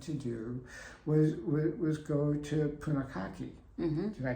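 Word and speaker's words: Punakaiki: we really wanted to do was go to Punikaiki. Mm-hmm. Did I pronounce it You the way did. you wanted? Yeah. Okay, Punikaiki.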